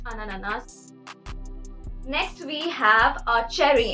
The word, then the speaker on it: ananas: pineapple in French so again here you see the liaison effect which basically joins the two words and makes it ananas next we have our